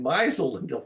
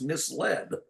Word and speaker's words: misled: heard anybody use it and so she was pronouncing it misel I said no that's misled well that's that's a lot of people that